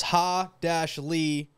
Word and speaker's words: Halle: I'm looking on Google and it says Ha-Lee, Bay-Lee.